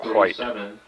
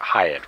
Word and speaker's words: Hyatt: Garrett Hyatt, rather, was, I guess, well, okay, well, I'll pronounce it Hyatt. Like, think of Hyatt as in, like, the Hyatt Vacation Club or the Hyatt Residence Club in Carmel.